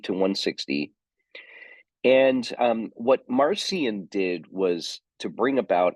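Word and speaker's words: Marcion: claimed to be a teacher of the church marcian m a r c i o n marcian um marcian lived from 80 ad to 160 ad ad80 to 160 and um what marcian did was to bring about a radical break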